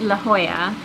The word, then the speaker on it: La Jolla: We are going to a place called La Jolla. La Jolla. Which is spelled La Jolla. Yeah, I think so. Or La Jolla. But pronounced La Jolla.